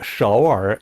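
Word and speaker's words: 首尔: 서울 서울이라고 할 때 서, 그 다음에 얼 이렇게 됐는데요. 삼성 글자가 두 개 연달아 나와 있으니까 앞에 발음을 제2성으로 올려서 서울 이렇게 발음합니다.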